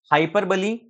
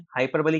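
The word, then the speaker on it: hyperbole: Spelling ही है इसकी, लेकिन वहां हाइपरबोल पढ़ते हैं, लेकिन अंग्रेजी में हम इसको हाइपरबली कहते हैं। क्या कहते हैं, हाइपरबली।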